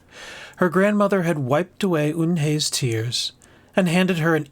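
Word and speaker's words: Unhei: "It's spelled U-N-H-E-I. It's pronounced Eun-hye." "Oh, it's you-hey," the boy said. "Like you, hey.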